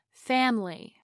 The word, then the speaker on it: family: The stress is on the first syllable, fam. Over time, the vowel I relaxes so much that we drop the whole syllable and turn it into family.